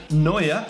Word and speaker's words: Neuer: I actually had Neuer, who I can't pronounce very well. Is that correct, Matt? Yeah, it's good. Got him this time, practicing overnight for that one. Neuer in goal last year. Marcelo, I pronounced that one better as well, because I